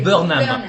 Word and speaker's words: Burnham: désolé, c'est Bo C'est Burnham. Burnham. Wow, oh my god. J'ai mal prononcé le E.